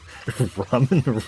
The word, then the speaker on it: ramen: Ramen rhymes with semen.